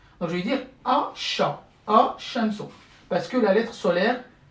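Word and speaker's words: الشمس: Donc, par exemple, Al-Shams, à la base, c'est Al-Shams, Al-Shamsu.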